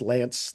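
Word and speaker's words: Lanse: And that's pronounced Lance like Lance a lot, but it's with an S, L-A-N-S-E, Hal Lance.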